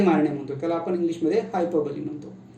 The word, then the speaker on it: hyperbole: See, the pronunciation is somewhat different. उच्चार थोडासा अवघड आहे, क्लिष्ट आहे, त्याला म्हणतो आपण हायपरबली.